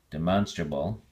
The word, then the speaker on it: demonstrable: to a soft a demonstrable demonstrably the emphasis now is on the second syllable man so yeah demonstrate